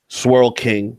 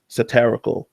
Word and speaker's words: Saaral: lot of satire myself Swirl King that's what what they call me it's supposed to be saaral this guy is a